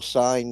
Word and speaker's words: sign: And just think, most people sign that away because of their dependency on someone else other than themselves for that protection. No wonder the G is silent in the word sign.